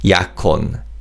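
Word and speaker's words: 약혼: you can say And in terms of pronunciation assimilates with he in the following syllable. So this is pronounced yakon.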